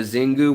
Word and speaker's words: Xingu: fish that are on the zingu which is spelled with an x x i n gu river i'd look into